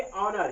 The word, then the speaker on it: honour: जैसे एग्जांपल है, इसको पढ़ेंगे ऑनर, क्या पढ़ेंगे, ऑनर। लेकिन इस प्रकार से यच लिखा है, यहाँ पे इसको होनर पढ़ सकते थे, क्यों, क्योंकि HONOUR था।